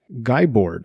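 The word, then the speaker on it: Guibord: got was from cedric guyboard i'm going to pronounce it guy board g-u-i-b-o-r-d he said listened and it was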